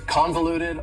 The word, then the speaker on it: convoluted: for you is convoluted convoluted also has four syllables and the stress is on the first syllable convoluted that second syllable again has that schah sound that reduced vowel sound uh convoluted convoluted if